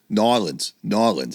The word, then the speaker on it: New Orleans: definitely going to be going to Mardi Gras again in New Orleans. N'Orleans. I got to start saying it right.